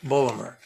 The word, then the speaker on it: Baltimore: from calhoun university in baltimore say it right bulmer he would then go